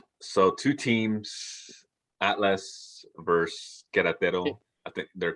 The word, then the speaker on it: Querétaro: You're not pronouncing the accent. Querétaro.